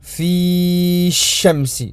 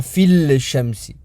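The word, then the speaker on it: في الشمس: Fi shamsi et non pas fil shamsi. Parce que ça rajoute une difficulté lors de la prononciation. Ainsi, on efface et on ne prononce pas le lem.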